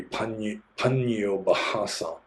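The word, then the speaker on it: Paññobhāsa: And I generally don't pronounce my own name correctly because there's an H in there, Obasa. So actually, you're supposed to pronounce the H. So it'd be Pannobhasa.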